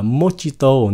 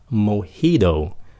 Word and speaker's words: mojito: Thật ra cái chữ này không phải phát âm là mojito, nó là mojito. Mojito. Tại cái gốc của cái từ này là của Tây Ban Nha, cho nên cái chữ J của nó không phải là âm J, nó là